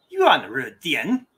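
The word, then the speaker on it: 远日点: It is pronounced Yuan Ru Dian. So Yuan is far. R is day, and dian is a point.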